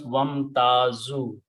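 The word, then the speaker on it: وامتازوا: When you put a waw in the beginning, do not pronounce alif, it becomes wamtazu.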